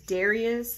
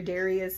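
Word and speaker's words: Dharius: I want to say it's Darius, and the H is silent. Dr. Darius Daniels.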